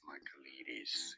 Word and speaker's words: Michaelides: Michaelides is how it's generally said in Michaelides.